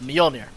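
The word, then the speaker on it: Mjollnir: is monkey king bar dataless and the uh Meir that's how it's pronounced by the way grant grant um so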